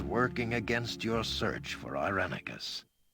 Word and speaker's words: Irenicus: Already you have felt the influence of those working against your search for Irenicus. So it's pronounced Irenicus. I've always been going Irenicus, haven't I?